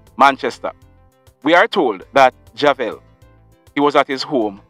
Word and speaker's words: Javel: That man, his name is Javel Dias, or Dias. His first name is spelled J-A-V-E-L, and his last name, D-I-A-S.